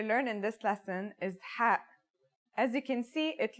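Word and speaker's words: ح: It sounds like the sound you make when trying to cool your mouth and throat after eating something very spicy. The closest English counterpart to the sound is H.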